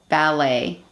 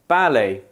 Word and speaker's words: ballet: English and British English there is a tendency for lone words often from French to be stressed on the first syllable by Brits whereas Americans put the stress on the second syllable for example adult adult